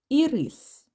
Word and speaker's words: ірис: так рухаємось далі маємо і рис і голосний р приголосний и голосний с приголосний як бачимо в цьому два Склади і рис і давайте поставимо наголос ірис наголос на другому складі наступне слово маємо ліщину